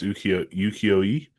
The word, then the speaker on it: ukiyo-e: Yeah, it's based on, I think it's pronounced ukiyo-e, which is like sort of Japanese panel art.